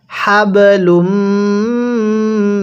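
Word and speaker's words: حبل: অবশ্যই আপনি এরকমভাবেই উচ্চারণ করবেন, ফি জিদিহা হাবলুম মিন মাসাদ, এরকমভাবে শিখব।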